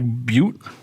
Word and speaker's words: Butte: Black Black Butte? Butte. I thought you said blackberry. I mispronounced the word.